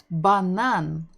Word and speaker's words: банан: B, banan, banan. We're stressing the final syllable, banan, banan.